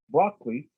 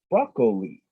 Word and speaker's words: broccoli: You can say broccoli, like I do, which is two syllables, or broccoli, which is 3 syllables, and both of them are correct.